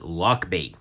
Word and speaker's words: Lochby: company and that is luck be uh spelled like lock b right on there but